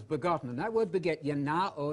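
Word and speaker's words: γεννάω: And that word beget, yanao in modern Greek, with the modern Greek pronunciation, yanao means to bring into existence, to give existence to.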